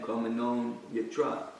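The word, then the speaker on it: karmaṇo 'nyatra: They combined that the last syllable of the second word with the first letter of the last word, so it becomes Karmanon, N-O-N, Karmanon Yatra.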